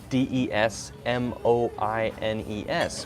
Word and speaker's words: Des Moines: called Des Moines but it's spelled des mo i n es which looks like Des Moines but it's not said that way it's a French word we say it as des moines des moines des moines